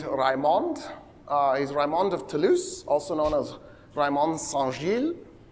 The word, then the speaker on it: Toulouse: The way he pronounced Toulouse in French, it's t o u l o u s e. In French, o u is ooh ooh, it's the same ooh that you have in Spanish or Italian.